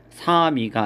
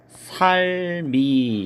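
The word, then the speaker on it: 삶이: 1번은 리을 미음인데 뒤에가 형식 형태소로 되어 있기 때문에 미음이 이응 자리로 가면 사미가 아니라 살미 이렇게 발음을 해야지 맞고요.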